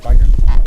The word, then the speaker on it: Weigand: Weigand. Yeah, like a V, Weigand, and a harsh T.